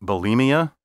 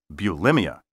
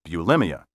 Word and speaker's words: bulimia: you know the eating disorder many people call bulimia well guess what the proper pronunciation is bulimia this medical term entered the language in the